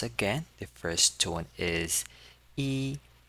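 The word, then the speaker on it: 一: So the first one is number one and is the first tone.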